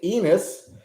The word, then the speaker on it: Enus: number five uh Faith enus she made sure that I pronounced that right it looks like Anis to me but I wouldn't say Anis because she said it's enus uh faith has got